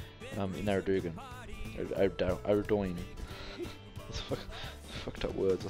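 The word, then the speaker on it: Ardougne: Next is Ardoin, and yes, it is pronounced Ardoin. I just call it Ardugan.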